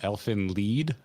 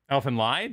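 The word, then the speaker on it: Elfen Lied: Elfin lead. Elfin lied. That's how I always heard it said.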